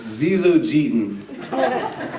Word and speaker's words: Zyzzogeton: It's Zizogeten, a rare genus of leafhopper endemic to South America. And the way you spell it is Zyzzogeton.